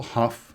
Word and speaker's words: Hough: The algorithm is named after Paul Huff who described it in a 1959 paper and I believe the correct pronunciation for his last name is like the word rough.